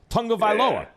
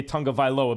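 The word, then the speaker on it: Tagovailoa: anyone in the nfl whose name we can't pronounce yeah that's that's who it was tango vailoa tongobylo everyone calls him too and no one wants to say tonga viloa because even though we've been told 15 times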